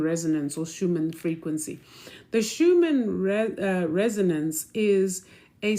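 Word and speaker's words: Schumann: So there is a what is called this the the some people say the schumman some people it's actually the Schuman.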